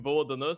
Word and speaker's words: VLDN: off with VLDN, which, I'm really used to calling him Vodana simply because that's the way that old Balkans pronounce it.